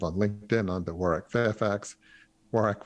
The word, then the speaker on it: Warwick: Warwick with the silent W there in the middle.